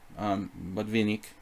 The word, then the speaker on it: Botvinnik: I mean, there's definitely, you know, there's definitely some Botvinnik, probably some Botvinnik game, Botvinnik, if we want to pronounce it correctly.